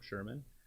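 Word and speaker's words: Scheirman: uh on facebook if you just look for sherman for congress uh it's spelled funny though so bear with me it's s-c-h-e-i-r-m-a-n for congress you can find me on twitter at vote sherman and i'm also on instagram and my fiance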